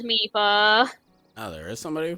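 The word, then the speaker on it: Mipha: my but i'm like no game says meepa oh there is somebody who pronounces my phone they're the same person that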